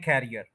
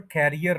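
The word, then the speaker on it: career: पता चलता है कि ये वर्ड कैरियर नहीं है ये वर्ड है करियर करियर अब ये बोला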